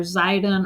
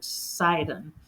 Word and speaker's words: Sidon: sidon which is also it's also spelled with a z too not just an S it's it's either zidon or sidon depending on how it's pronoun like in uh the Greek it was with the S and it's now with